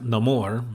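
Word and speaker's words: Namor: and so they're very Neymar is very upset and you learn well it's pronounced no more which he gets you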